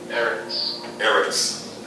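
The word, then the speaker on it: ארץ: It would be the apostrophe E-R-E-S, Eris is how it's pronounced.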